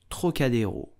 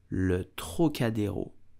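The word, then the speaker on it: Trocadéro: so much so in French you will say Trocadero Le trocadeo Le o did you know that this place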